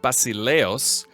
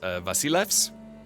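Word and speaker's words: Basileus: The other thing is the title of the king of Sparta, Basileos, actually in Greek, I was told would be pronounced Vasilevs.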